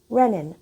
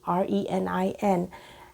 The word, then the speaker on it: renin: produce an enzyme called renin r-e-n-i-n and there are some dogmatic people who will insist that it's pronounced renin r-e-n-i-n from renal tissue quite quite so renin